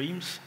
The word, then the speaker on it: Eames: And somebody I really respect said this, that his last name rhymes with memes, Joe Eames, pretty cool guy.